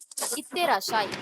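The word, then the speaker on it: いってらっしゃい: Raw letter, she letter, சூ letter குட்டியா இருக்கு, எப்படி ப்ரொனவுன்ஸ் பண்ணுவோம்? ரஷின்னு ப்ரொனவுன்ஸ் பண்ணுவோம். ஏன்னா இந்த ஷி லெட்டர் தான் நம்ம ஸ்ட்ரெஸ் பண்ணுவோம். ரஷி, RASSHI, ரஷின்னு வரும். புரியுதாடா? ப்ரொனன்சியேஷன் புரியுதா எப்படி வந்தா எப்படி சொல்றோம்ட்டு? இந்த ஷீயை ஸ்ட்ரெஸ் பண்ணும், இந்த லெட்டர் வந்து இந்த ஷீயை கொஞ்சம் ஸ்ட்ரெஸ் பண்ணி சொல்ல வைக்கும், அவ்வளவுதான். புரியுதா?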